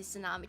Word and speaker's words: tsunami: When you pronounce the t into tsunami to tsunami to tsunami tsunami.